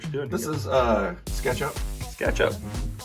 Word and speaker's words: SketchUp: SketchUp. Rhymes Very common CAD tool. rhymes with ketchup.